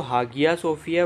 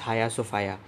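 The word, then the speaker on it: Hagia Sophia: अब देखिए इसके स्पेलिंग तो हागिया सोफिया, बट इट is called as हाया सोफाया.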